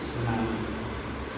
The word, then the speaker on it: tsunami: And tsunami travel, tsunami. T is silent. T is silent, and our pronunciation will be tsunami.